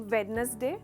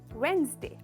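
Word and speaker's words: Wednesday: इसकी हमने जनरली कहते हैं हम वेडनेसडे, पर इसकी करेक्ट प्रोनाउंसिएशन है वेंसडे। वेंसडे। सिर्फ 2 भाग है इस वर्ड के प्रोनाउंसिएशन में, वेंसडे।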